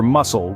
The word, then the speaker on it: muscle: second one is silent or consider muscle where the C is as quiet as a mouse yet it helps to